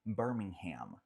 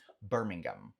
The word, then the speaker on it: Birmingham: Só que fato curioso, assim falamos nos Estados Unidos, tá? Então, Birmingham, Alabama, então a cidade no Alabama, mas no Reino Unido não se fala Birmingham, pelo menos não no inglês britânico. Fala Birmingham, Birmingham, Birmingham.